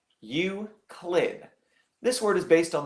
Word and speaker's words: Euclid: Li you CL ID pronunciation wise we're going to say Euclid you click this word is based